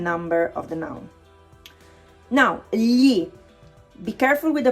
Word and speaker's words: gli: Now, gli. Be careful with the pronunciation. Gli, okay? It's not gli, okay? It's gli. Yeah sound.